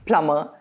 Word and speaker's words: plumber: The British English pronunciation of this word is plumber, and the American pronunciation is plumber, plumber. The Americans tend to roll their R's. The plumber came to repair the leaky faucet. Notice that the B is silent in this word.